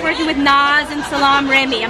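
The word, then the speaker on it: Salaam Remi: So I want to know what was it like working with Nas and Salam Remy. I'm not sure if I'm saying it right. Yeah, you are. No, Salam Remy.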